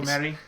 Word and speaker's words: Merhi: If not, I'm sorry, Roberto Merhi. I think it's Merhi because it's Spanish, so you have to say it with a little bit Roberto of accent. Roberto Merhi.